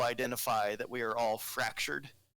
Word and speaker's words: Fraxure: But the comic book is called it's a series, and it's called Fracture, spelled with an X.